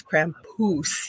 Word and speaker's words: Krampus: We think he is over here in North America, but he told me we say it wrong. It's Krampus, he says.